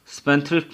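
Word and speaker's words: spendthrift: स्पेंथ्रिफ्ट में D silent है और स्पेंथ्रिफ्ट से मुराद है शाखर्च।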